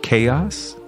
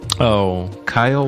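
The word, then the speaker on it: Kaiowas: to pronounce it it's it looks like it wants to be said chaos but it's oh Kyle was k-a-i-a-w-o-s yeah yeah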